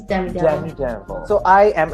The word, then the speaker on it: Demi Devil: Am I pronouncing it right, by the way? Demi Devil. Yes, it's Demi Devil.